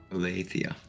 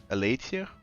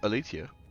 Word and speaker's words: Althia: How do you pronounce that? Althia. Althia. Mhm. I'll never forget it. Uh, so elitia. Oh, because you don't use th's. Yeah. Yes. Uh, yeah. For uh in French, th is uh is still tia. Uh yeah. Uh actually the h is the problem. We don't pronounce h's.